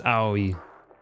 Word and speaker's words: Aoi: It's literally 3 different individual symbols that you pronounce individually. It was Aoi, the person who conducted the actual experiments.